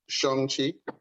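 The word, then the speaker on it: Shang-Chi: like i mentioned before apparently it's pronounced shongxi well you know you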